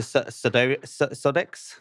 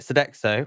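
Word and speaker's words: Sodexo: And first starting at Deliveroo then moving to Sodo Sodex. Sedexo. Sedexo French company. That's it. Sedexo.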